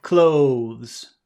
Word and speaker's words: clothes: and that always makes the vowel sound sound longer close yeah say number